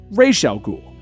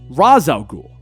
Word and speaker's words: Ra's al Ghul: to the comics so they used the creator's pronunciation racial ghoul then chris nolan made his film and didn't have those strong connections so he went with the original arabic pronunciation raza ghoul the producers of arrow